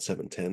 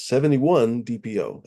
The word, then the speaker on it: 71 DPO: I always thought it was 710 DP whatever, but it's 71 DPO. It's not 710, it's 71 DPO.